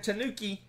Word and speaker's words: Tanuki: Alright, it's Tiger and Tanuki. You ready? That kind of rhymes with Kabuki.